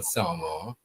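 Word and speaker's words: San Juan: Well, you know you know um that town in Trinidad that we call Sour. Yes. that is spelled s an a n j u n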